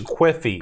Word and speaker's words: Quiffy: the level design and Queefy's ability to go up on the wall. You keep elongating you pronounce it more and more like Queefy every time. It's Quiffy.